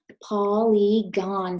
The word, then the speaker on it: polygon: first syllable Paul super Sneaky like e last syllable good on gone polygon say it with me polygon a polygon is